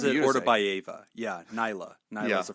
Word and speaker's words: Ortabayeva: pronounces it Beautiful. Ortabayeva.